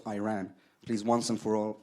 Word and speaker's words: Iran: the Iranian people but you're pronouncing a country's name wrong a country is named Iran not Iran please once and for all let's get this